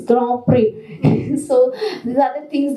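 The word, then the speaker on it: Grand Prix: to learn even even the pronunciation that it is not Grand Pricks it's Grand PRI so these are the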